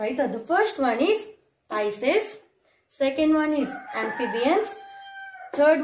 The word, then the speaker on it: Pisces: you one more time, okay, how it is pronounced. You might be confused, no? So please listen it carefully. The first one is Pisces. The first one is Pisces.